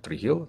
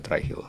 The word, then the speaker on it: Trihill: gua lihat baca gitu Gua jadi kebaca e tre heill try heill atau apa sih ini tapi ternyata bacanya try Hill try Hill try Hill